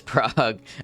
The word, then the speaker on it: Prague: the right string and prag has plenty of that bothers me how she says Prague I've never heard anyone pronounce it prag you said we got